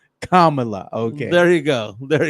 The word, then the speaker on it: Kamala: of all we gotta get the name the pronunciation right it's not Kamala she's not a wrestler from the 80s it's Kamala Kamala okay there you go there you go no